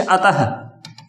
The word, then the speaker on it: अतः: तो देखिए क वर्ग है और विसर्ग, जैसे विसर्ग कहां लगता है, जैसे अतः, क्या लिख रहे, अतः नहीं है, अतः है का उच्चारण होता है साथ में।